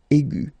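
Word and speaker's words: aiguë: So aigu will become aigu. Another example is ambigu, and it will become ambigu. Okay, so you don't modify the way to pronounce them.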